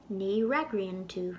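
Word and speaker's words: ní fhreagraíonn tú: In Irish, the FH combination is silent, so it would be ragrian, ni ragriantu, you don't answer.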